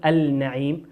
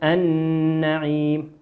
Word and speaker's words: النعيم: كذلك قول ربنا عز وجل النعيم لام ساكنة أتى بعدها حرف النون والنون من حروف اللام الشمسية ندغمها النعيم ولا نقول النعيم نقول النعيم.